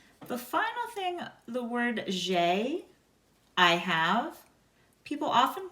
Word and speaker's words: j'ai: The final thing, the word j'ai, I have, people often mispronounce. Your A and I together make an A sound.